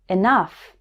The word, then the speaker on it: enough: also pronounced this way o-u-g-h can be pronounced like uf in stuff as in these words enough tough rough there's one word where